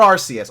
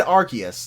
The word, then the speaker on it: Arceus: about pokemon legends arceus or rcs well no they said arceus i guess that's that's how you gotta say it right i mean there's people